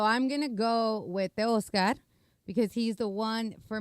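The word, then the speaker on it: Teoscar: The Oscar is how you say it.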